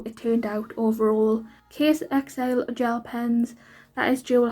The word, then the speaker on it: Caisexile: But the rest of it is those, I don't know if I'm saying it right, but I say Case XL, but it's spelled CAISEXILE. So that's the only way